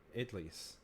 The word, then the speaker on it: idli: My husband can't figure out idlis. What? How do you pronounce that?